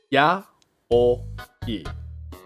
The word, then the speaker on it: yaoi: How I would explain how to pronounce this word would be something like this. Ya-o-i. Yaoi. Yaoi.